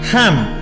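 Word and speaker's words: hymn: And last but नॉट the least, smart word number 10, हैम, that is noun, English में religious song, साम, chant, spiritual praise. 2 word आए ऊपर, ध्यान से देखिएगा। हैम में एन साइलेंट है और साम में पी साइलेंट है।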